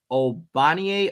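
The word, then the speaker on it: Ogbonnia: lizard but and I've I heard his first name pronounced two ways I'm going with the way that I wrote down here obanie ocaroncos would be the way no G no G even though he has a g in his name so we're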